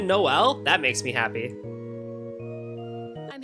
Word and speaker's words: Noel: Oh, so they're actually pronouncing it Noel?